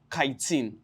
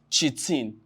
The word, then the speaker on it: chitin: Now it contains what is called kitin. Some call it kitin. Some can also pronounce it as chin.